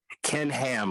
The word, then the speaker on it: Ham: Ken Ham, like a pig, like You sure his H-A-M.